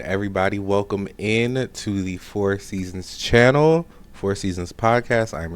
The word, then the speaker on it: IVSZNZ: Again, I am your host, Four Seasons. That is pronounced Ivsznz.